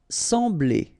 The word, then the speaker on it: sembler: Sembler. Remember, we've got this EM here, nasal, en, sembler, sembler.